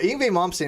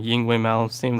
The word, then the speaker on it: Yngwie Malmsteen: But Yngwie Malmsteen is the greatest arpeggio guitarist of all time.